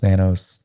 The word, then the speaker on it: Nanos: Am I saying it right? Nanos. Nanos. It's Greek.